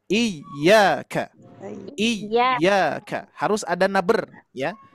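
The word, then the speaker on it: إِيَّاكَ: Yaitu pengucapan iyyaka.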